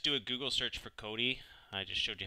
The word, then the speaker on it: Kodi: so quickly just do a google search for cody i just showed you how to spell it there kodi and the first thing that